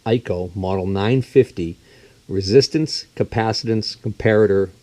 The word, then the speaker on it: ICO: this is an ICO the ICO pronounced eco model 950 resistance capacitance